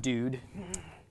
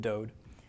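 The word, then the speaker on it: דוד: a D okay so this would be pronounced dude which is in fact not a Hebrew word okay there is no Hebrew word dude there's a word dode okay but that is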